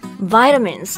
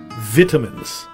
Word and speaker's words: vitamin: Vitamins 就是维生素，它对于人体生长还有身体健康都是必须的。比如我们经常会说到橙子里面就会有很多的维生素 C. So what about the British pronunciation? Vitamins.